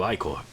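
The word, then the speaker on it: Ichor: I can fill it with magical Iicore. That's pronounced IIcore.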